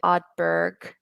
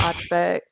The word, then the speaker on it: Ardbeg: Sometimes I feel like I said Ardbeg, but it's Ardbeg, Ardbeg. But it sounds the same, Ardbeg.